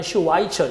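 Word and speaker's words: Schweitzer: 독일어 발음은 바이 발음이지만 슈와이처 영어식 발음은 나는 슈바이처 같은 사람이 되고 싶어요.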